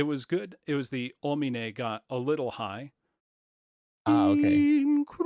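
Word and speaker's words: homine: in with so the word ominae there h-o-m-i-n-e don't pronounce the h just go oh me-na can everyone say that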